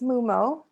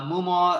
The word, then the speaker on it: Momo: mo how do i how do we pronounce your name correctly oh it's momo yeah yeah uh i'm sorry that i i pronounced it the wrong way uh mumo uh thank you so